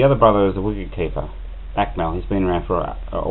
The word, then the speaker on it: Akmal: How could you pronounce UAKMAL? His name's Akmal. UAKMAL. Well, you call it just Mal, do you? It's Akmal.